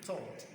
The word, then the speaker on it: third: So this is not like you say third. No. It is third.